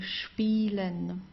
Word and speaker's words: spielen: a word it is, you always pronounce it as sp if it's at the beginning of the word.